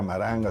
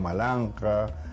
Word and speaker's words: Maranga: Por eso también, digamos, el cacique limeño, ¿no es cierto?, Taulichusco no era Taurichusco, sino Taulichusco, y toda la toponimia, Maranga no era Maranga, sino Malanja, Lurigancho no era Lurigancho,